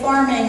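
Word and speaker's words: pharming: And when I say farming, I spell it P-H-A-R-M-I-N-G.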